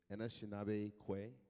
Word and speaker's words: Anishinaabe Kwe: Anishinaabe Kwe.